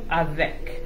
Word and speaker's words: avec: Now in French, the word with is avec. Is what? Avec.